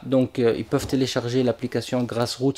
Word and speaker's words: GrassrEuts: Donc ils peuvent télécharger l'application Grass Rout. Ça s'écrit G R A 2 S R E U T S mais ça se prononce grass route. C'est un jeu de mot.